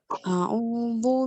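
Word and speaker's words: أعوذ: Tapi a'udzu ya hurufnya zal ya, dal yang ada titik ya, zal ya. Ujung lidahnya bertemu dengan ujung gigi seri atas. A'udzu, zu ya, bukan du. Tapi A'udzu.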